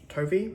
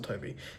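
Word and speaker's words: Tovey: Um, by Russell Toby, I want to say his name is. He This is Russell Tovy.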